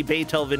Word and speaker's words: Beethoven: we have it everybody Beethoven is pronounced with the emphasis on the first syllable that was a great